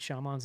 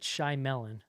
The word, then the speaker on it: Shyamalan: Night Shyamalan's name wrong.